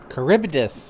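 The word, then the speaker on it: Charybdis: Caribbdus is how you say it.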